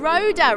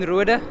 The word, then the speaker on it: Roeder: championship is 19-year-old Roeder. I don't think I pronounced your surname quite correctly. What is it in Afrikaans? It's Roeder. So yeah, that's South African surname.